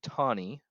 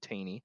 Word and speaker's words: Taney: right here roger b tawny you might hear some people pronounce his last name taney but roger b tawny um wrote the opinion